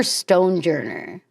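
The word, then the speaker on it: Stonjourner: Ston Ston or Stonejourer? Maybe Stonejourer, but it's spelled like Stanjourer.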